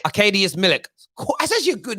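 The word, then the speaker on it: Arkadiusz Milik: anything about him and this is how you pronounce his name arcadius millick arcadius millick that's actually a good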